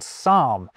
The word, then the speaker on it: psalm: So, we pretend the P isn't there when we pronounce Greekder derived words like psychology and psalm. Ditto with t words like pterodactyl.